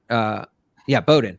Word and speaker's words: Bowdoin: Bowdoin.